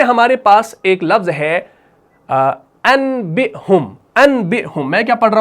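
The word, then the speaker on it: أَنْبِئْهُمْ: کو پڑھا جائے گا انبئہم، یعنی اس کو ہم میم سے تلفظ کریں گے. حالانکہ ہے کیا؟ حالانکہ نون ہے.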